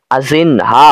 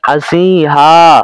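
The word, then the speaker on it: ازینها: হার এক আজিহা হবে উচ্চারণ আমি ভুলে বলে ফেলেছিলাম আজিনহা অর্থাৎ নুনের উচ্চারণ করেছিলাম এখানে নুনের উচ্চারণটা হবে না বরং নুনের উচ্চারণটা নাকের মধ্যেই থাকবে হার এক আজিহা হার এক আজিহা আশা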